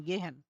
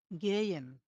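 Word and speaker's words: gehen: এটাকে আমরা যদি নরমালি কেউ যদি উচ্চারণ করেন তখন কিন্তু আপনারা উচ্চারণ করবেন গেহেন, গেহেন। কিন্তু এটা সঠিক উচ্চারণ না। গেয়েন, গেইয়েন। এটা হচ্ছে সঠিক উচ্চারণ।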